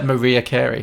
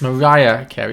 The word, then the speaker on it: Mariah Carey: Did you just pronounce her Maria Carey? I did, yes. Oh, come on. I was very 50-50 on it. I didn't know. It's Mariah Carey.